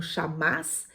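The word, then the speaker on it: חָמָס: A palavra hebraica aqui usada para violência também é uma palavra pronunciada como chamás, que significa crueldade, injustiça, extrema opressão, injustiça extrema, opressão.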